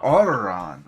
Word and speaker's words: Auron: I say Auron.